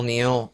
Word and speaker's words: Niall: Niall, Neil, the original Neil. I like to say Null because it sounds badass, but it is pronounced Neil.